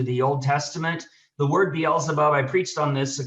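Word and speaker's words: Baal Zebub: for its god uh baal so it was baal zabob is actually the proper pronunciation the storm god uh the canaanite deity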